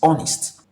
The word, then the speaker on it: honest: The H here is silent.